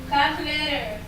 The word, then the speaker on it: calculator: four-syllable, five-syllable, six-syllable, seven-syllable, that ends with a t o r, this rule will shock you. Those words will be stressed on the fourth to the last syllable.